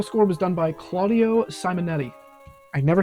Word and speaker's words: Simonetti: The musical score was done by Claudio Simonetti. I never say his name right. I always want to throw an L in Simonetti. I always want to say like Simonetti, and that's not.